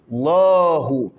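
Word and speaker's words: الله: Allahu. La. Le la de Allah est toujours tafkhim.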